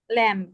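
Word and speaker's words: lamb: হয়ে থাকে তাহলে পরেরটাকে আমরা কি পড়ি এটাকে ল্যাম ল্যাম পড়ি বাট এটার উচ্চারণটা কি ল্যাম উপরেরটা কি খম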